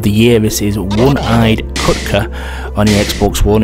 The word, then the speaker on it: Kutkh: I believe it's pronounced Kutkh. It's spelled K-U-T-K-H.